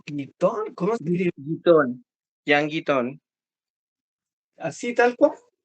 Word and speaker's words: Guitton: Guitton.